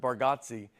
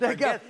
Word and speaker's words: Bargatze: I told you I think you say our last name correct with Bargatze and I think we say it wrong as a family.